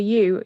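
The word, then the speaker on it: ewe: know that a female sheep is called a u u e u e and e w e sorry can't spell it explains a lot yeah so the answer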